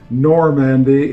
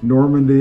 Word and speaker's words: Normandy: with the normandy and that word is pronounced normandy if you're older normandy if you're younger it's a name for